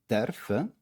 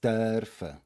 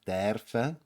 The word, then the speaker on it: dürfen: for the pronunciation, here, dürfen is like brötle. This isn't a e, it's not a ö, it's in between. It's ö. It's dürfen, like brötle, and so forth. There are a couple of words which use this e ö combination, so just keep it in mind for the pronunciation that it isn't a strict e, it's not dürfen, it's dürfen.